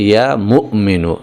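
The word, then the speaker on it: يا مؤمن: কিন্তু আসল উচ্চারণটা হচ্ছে ইয়া মুমিনু। এখানে মিমের পরে একটা হামজা রয়েছে। একটুখানি ধাক্কা হবে এভাবে।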